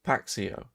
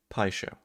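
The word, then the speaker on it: Paixão: I can is because the amount of people that are like, it's Paxio, Paxao, etc. No, it's not. Pie show. Let's keep that in mind. Pie show.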